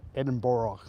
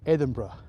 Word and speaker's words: Edinburgh: We pronounce it Edinburgh. No, it's Edinburgh.